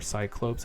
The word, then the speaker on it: Cyclopes: The name Cyclops, or Cyclopes as it's originally pronounced, means circular eyes or round eyes.